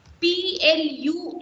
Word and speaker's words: plumber: You have MB together. In this particular set, you are supposed to keep burr silent.